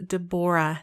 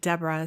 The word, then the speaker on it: Debora: Her name is Debora, not Deborah.